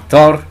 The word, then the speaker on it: Thor: El siguiente juguete es Thor, a ver qué es lo que hace, o mejor dicho Thor, porque así se pronuncia la TH.